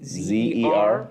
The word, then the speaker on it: Siser: Francis Bobo Brown said Siser, but it's misspelled Seezer. That's perfect. Which is that's how you pronounce it.